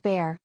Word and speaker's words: Bar: I was growing up often shortened to Bar pronounced bear there are people in